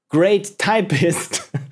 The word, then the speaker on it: Create Typist: Create Typist, a gem game by Luca1152. Create Typist, pronounced Great Typist, okay, is a simple